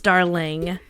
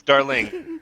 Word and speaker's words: Darling: her axe no it's darling or potentially in an Irish yeah how's it going darling darling you're screwed enough wait how do you say your name is it darlin or darling it's darling okay darlin no matter